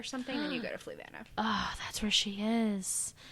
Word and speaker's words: Fluvanna: So, I don't know how to pronounce this. Correctional Center. Fluvanna? Fluvanna.